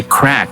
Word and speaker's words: craic: discuss what do we mean by crack as in c-r-a-i-c well this word is